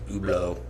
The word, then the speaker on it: Hublot: that's spelled Hublot by the way and it's pronounced oblo okay whatever my bad no you're you're fine